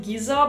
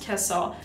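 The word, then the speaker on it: Gissah: local community in the Middle East this is Kessa Imperial Valley now the way that you spell it me would pronounce it Giza but apparently it's pronounced Kessa this is Imperial Valley you guys I have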